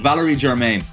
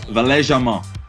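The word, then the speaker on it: Valère Germain: And obviously, we'd call him Valerie Germain, but it's Valais Germain, who's playing in behind Falcao as well.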